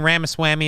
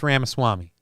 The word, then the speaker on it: Ramaswamy: Swami Rama Swami okay I've been saying Rama Swami it's ramaswamy it's fast food for